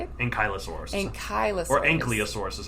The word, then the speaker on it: ankylosaurus: saying I'm sorry how do you say it ankylosaurus ankylosaurus or anosa orus is how some people say anaus I think I've heard that before yeah I like to say it like ankylosaurus propa yes indeed uh yeah for some reason